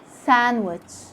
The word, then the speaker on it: sandwich: and fascinate letter d letter d is silent in some of the most common words that that we use every day like when you say wednesday can't hear the sound of the d sandwich handsome in all these words you can't hear the sound of the d it's silent now with letter e